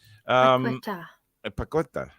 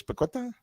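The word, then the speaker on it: Paquetá: Paqueta. Was that right, Alex? Paqueta? It's close enough, yeah. That'll do, yeah. King Edward says, up the Premier League we go. Andy says, bouncing lads and lassies. A Paqueta in the post for Bruno.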